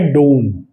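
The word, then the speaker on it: don't: अब इसका जो प्रोनंसिएशन होता है उसमें ये जो टी होता है ये आपका साइलेंट रहेगा। ठीक है? तो आप बोलेंगे आई डोंट।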